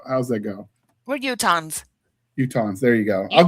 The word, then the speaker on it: Utahns: Is it Utah-nian? Utah-nian? How How's that go? We're Utahns.